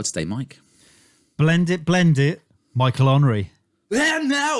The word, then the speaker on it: Henry: got a special guest, Michael Omri, or Michael Henry. Yes, depending on how you say it. Yeah, depending on whether you're French.